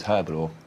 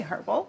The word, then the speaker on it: herbal: always no this is herbal herbal herbal is that what you say did you say herbal yeah is that how you say it how do you say it herbal was the age silent oh no we're disagreeing